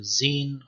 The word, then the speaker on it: Zain: The next letter is called zain or zin or zai, and is pronounced z, as in zu'ur or zu'ur, small.